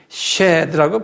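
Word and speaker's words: shed: 히브리에서는 마귀를 쉐드라고 그래요. S-H-E-D, 쉐드라고 발음해요.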